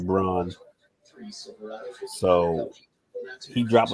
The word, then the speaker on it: Braun: Christian Brown even though his last name is spelled Braun I don't care what you say it is bronze so he dropped like